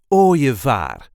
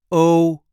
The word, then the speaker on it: ooievaar: This is the way we say ooievaar. Ooievaar. So the IE, the E, is here pronounced as a j, ooievaar. There is a light emphasis on the first syllable, ooievaar. O-je-vaar.